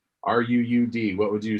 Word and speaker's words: Ruud: Ruud. Ruud. Oh, yeah. Okay. You gotta roll the R. Ruud. Ruud. But when I'm talking to English folk, Rudy will suffice.